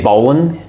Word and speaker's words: Boland: Is it pronounced Boland? Yeah.